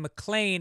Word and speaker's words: McLean: And the last name, McLean, is pronounced same as Officer John McLean of the New York City Police Department.